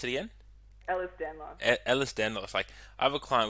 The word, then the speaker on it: Ehlers-Danlos: sorry, how'd you pronounce it again? Ehlers-Danlos.